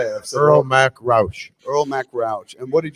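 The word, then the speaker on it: Earl Mac Rauch: kevin smith mute the mics how do you pronounce the writer's name i've never known how to say it absolutely earl mack roush earl mcrouch and what did you guys call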